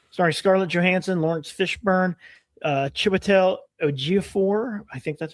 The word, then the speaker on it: Chiwetel Ejiofor: Mike Flanagan, The Exorcist, has finished filming, starring Scarlett Johansson, Lawrence Fishburne, Chiwetel Ejiofor, I think that's how you say his name, Hamish Linklater, Jacoby Drupe, Kate Siegel, Diane Lane, and Carla Gugino.